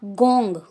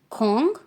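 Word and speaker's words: 공: देखो दोबारा से, योंग, खोंग, इट्स नॉट गोंग, खोंग, इल, ई, सम, सा, ओ, युक, चिल, नॉट चिल, चिल।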